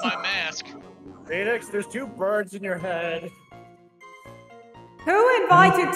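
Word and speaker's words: Byrde: Mr Cuda or Maggie bride's how do you pronounce that again bird bird thank you Maggie Bird's testimony but objection objection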